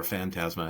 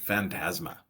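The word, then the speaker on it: φάντασμα: said it's a ghost the Greek word is phantasma oh yeah and tasma or fantasma however you want to pronounce that a I think it's a great word it's where you get Phantom right that that's where that word comes from but phantasma like plasma but it's a ghost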